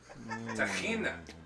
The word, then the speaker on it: tahina: Tahina.